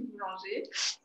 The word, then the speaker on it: Boulanger: Alors, tu as prononcé mon nom très bien, Boulanger.